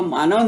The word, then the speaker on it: Maine: ये राज्य का नाम है मेन, हाँ, MAINE इंग्लिश में स्पेलिंग है और हिंदी में इसका उच्चारण है मेन।